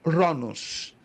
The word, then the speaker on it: Cronos: é chamado de ronos se escreve Cronos daí a palavra cronologia o estudo do tempo mas se pronuncia no grego ronos Ok o tempo humano